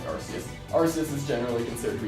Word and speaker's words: Arceus: Arceus is, I know it's pronounced RKS, but I like Arceus.